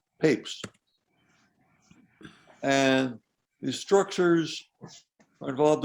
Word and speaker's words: Papez: first described by papes it looks like it would be pronounced papez but it's actually papes and these structures are